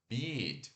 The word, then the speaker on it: beat: A palavra batida de música se pronuncia beat, ó, B e longo T.